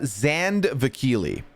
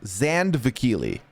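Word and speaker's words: Zandvakili: Yeah, it's Zandvikili. Very, the way you see it is the way it is. Zandvikili.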